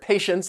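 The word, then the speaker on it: patients: and in this word patience the t is going to be silent and this refers to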